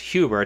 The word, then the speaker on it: Huber: Apparently, Chuck, I believe his last name is pronounced Huber, Chuck Huber came out with an affidavit, which